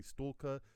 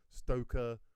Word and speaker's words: Stoker: You go to another person, they say stalker, steaker, stoker, stalker. Yeah, stoker.